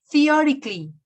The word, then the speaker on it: theoretically: Theoretically. Adverb. Wait a minute. Adverb. Adverb. No, la pronunciación es theoretically.